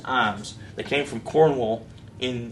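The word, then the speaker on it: Iiams: it the alabama family is ij ams it's pronounced ims they came from cornwall in in the uk in 1665.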